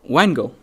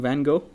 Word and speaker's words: Van Gogh: by da Vinci what Wango who did I say it wrong Van Gogh oh the V thing oh my God like